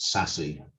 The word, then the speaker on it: SASE: for crossword and and sase is pronounced sassy sassy um i don't